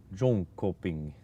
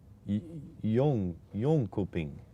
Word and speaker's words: Jönköping: So, is the J a Y for you guys? Jönköping. Like that?